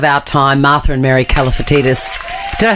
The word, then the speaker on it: Kalifatidis: two icons of our time Martha and Mary caltius did I say it right you always say